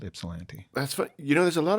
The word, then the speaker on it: Ypsilanti: I was wondering how you say Ypsilanti. Was I punched it into my GPS? So I was like, I wonder if that Y is silent but yeah. Ypsilanti. Yeah. That's how we say it. Ypsilanti.